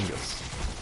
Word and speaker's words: Tengus: So I did pronounce it right. Tengus. Cool.